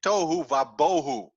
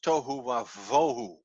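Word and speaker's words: תֹהוּ וָבֹהוּ: people talk about this they always say tohu va bohu they speak out a b sound but it's not there it's the v sound tohu it's a v sound the pronunciation is not tohu bohu it's tohu of vohu so that's why the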